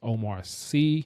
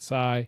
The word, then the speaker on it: Omar Sy: His name, the name is pronounced is Omar C, not Sai.